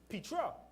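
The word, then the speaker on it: πέτρα: word for rock in that same verse is pronounced Petra which is a feminine noun denoting a large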